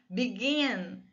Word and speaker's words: begin: Begin, a sílaba forte é o gin, begin.